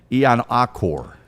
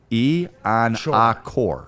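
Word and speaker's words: Iheanachor: This is Ian-Akor. Okay? That's how you... Achor. Ian-Akor. Sure. C-O-R-E is how I've been told it's pronounced.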